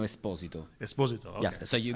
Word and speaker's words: Esposito: No, it's the correct pronunciation is Esposito.